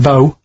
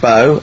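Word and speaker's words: B.O.: and it smells like bow bottle holder body odor well yeah but you've got a plate it's not pronounced bow and it's not spout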